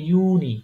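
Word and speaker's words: Juni: দেখেন এটা কি ইয়ট হ্যাঁ এটা হচ্ছে কি উচ্চারণ হবে ইউনি ইউনি ইউনি মানে কি জানেন ইউনি ওইটা হচ্ছে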